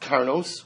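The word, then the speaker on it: קרנות: So Beis Shammai says that even though it's written vav, it's pronounced karnos, which is plural.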